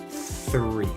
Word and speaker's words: three: to say the word three and the reason for that is is because in ireland we generally do not pronounce the h after the t in general so for